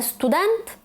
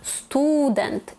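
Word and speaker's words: student: Тобто, наприклад, не уліця, як би нам хотіли сказати, а уліця. Не студент, а студент.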